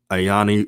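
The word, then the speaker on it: Aini: um good skin good skin care go to ayani organics spelled a i n i organics and and organics is spelled o-r-g-a-n-i-x so i'm just giving an example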